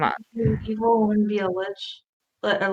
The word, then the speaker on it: lich: Evil wouldn't be a lich. A lick, however you pronounce it.